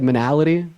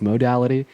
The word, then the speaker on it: modality: You said monality, right? It's pronounced modality.